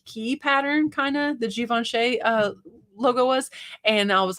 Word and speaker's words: Givenchy: It's Givenchy, right?